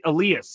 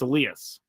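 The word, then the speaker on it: Elías: Pronunciation of Elas Diaz. It is Elas. Elas or No, it's Elias. It's Elias.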